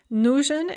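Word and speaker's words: нужен: in the dative yamu note the stress shift nujin is stressed on the first syllable but nujna is stressed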